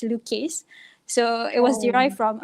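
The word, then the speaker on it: Loucase: lucky specifically you know just by pronouncing the name it's luke case so it was derived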